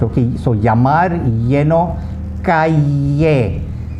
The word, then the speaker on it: calle: Okay, so yamar, yeno, calle, like C-A-Y-E, calle.